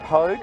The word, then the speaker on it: Pogue: new friend in Pogue I've I've confirmed the pronunciation it's just like Vogue but with the little